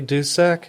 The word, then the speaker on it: Dusek: Okay, this is Dusek.